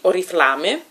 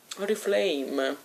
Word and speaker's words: Oriflame: Della marca, io la pronuncio proprio così, Oriflame. Oriflame.